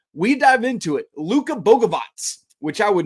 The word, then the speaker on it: Bogavac: Luca Boavatz, which I would not guess that's how you pronounce his last name looking at the spelling, folks.